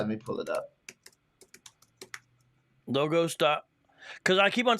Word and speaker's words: Logos: The proper way the company says their name is Logos. What happens is you end up saying Logos if you've taken intro Greek, because that's how you say Logos in Greek. But the company is Logos.